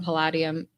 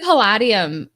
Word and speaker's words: Palladium: And Malachi adds that Trollord Games and Kevin from Palladium is how you say it. I said Palladium for a while because I'd never heard it said out loud.